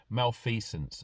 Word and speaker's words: malfeasance: very relevant okay um this is mail fee sense okay malfeasance I will spell it m-a-l-f-e-a-s-a-n-c-e so male fence in a public